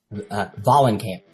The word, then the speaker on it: Vahlenkamp: Vahlenkamp.